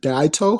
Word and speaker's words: Daito: hey doing good yeah daito's it you nailed it perfect perfect um how's your